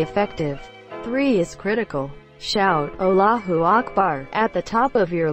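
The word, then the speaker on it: الله أكبر: also pronounce it properly it's not pronounced like all but closer to ull same goes for Akbar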